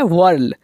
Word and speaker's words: whirl: साथ ही साथ जब चक्री घूमती है तो चक्री के घूमने को कहा जाता है वर्ल।